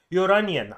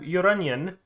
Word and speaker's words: Lloronion: It's finally time to review Lloronion. I think that's how you pronounce the name, because in Spanish, like llorar, llorón, that's like crying, and clearly this is onion.